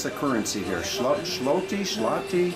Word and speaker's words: Złoty: And is it called, how do you pronounce the currency here? Zloty? Złoty.